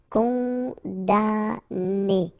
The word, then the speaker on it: condamné: Okay, so it's really strange because this M here, well, technically it's not pronounced. Condamné.